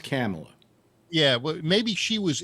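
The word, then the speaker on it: Kamala: i wonder you know camilla camilla harris always kind of giggles and laughs and uh it's pronounced camella yeah well maybe she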